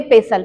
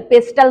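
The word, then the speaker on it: pestle: English में कहते हैं पेसल स्पेलिंग इसकी कुछ और है बोलेंगे पेसल पेस्टल मत कहिए ठीक है इससे हम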